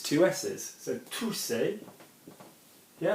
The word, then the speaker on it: tousser: want you to work out if you can spell it. Okay? Tousser, tousser.